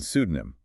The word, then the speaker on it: pseudonym: asterisk and pseudonym a writer's false name with a silent P ordinance a government rule